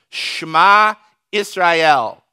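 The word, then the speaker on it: שמע ישראל: and the beginning of that is shema israel listen up israel the lord your god the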